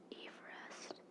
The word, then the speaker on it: Everest: Number 14 says, Mount Everest, named after Colonel Sir George Everest, should be pronounced Everest.